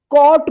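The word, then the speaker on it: cot: ठीक है, कॉट क्यों पढ़ेंगे? क्योंकि सी के बाद जो है ना ओ आए। रूल्स क्या था कि ए ओ यू के आर टी, इनमें से कोई भी अक्षर जो है ना सी के बाद लिखा रहेगा तो सी का क उच्चारण आप कीजिएगा।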